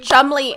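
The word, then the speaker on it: Cholmondeley: And if you've noticed, They pronounce it Chumley, and there's a D in it.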